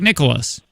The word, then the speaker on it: Nicklaus: Yeah, Jack Nicklaus.